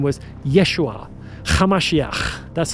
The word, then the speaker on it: Yeshua: Yeshua with a sound. You have to add a little bit of a throaty little. That's Aramaic. That's what it sounds like, folks.